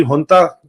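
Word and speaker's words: junta: ये मिलिट्री हुंता, लिखने में जनता लिखा जाता है, लेकिन उसकी प्रोनाउंसिएशन होती है हंता।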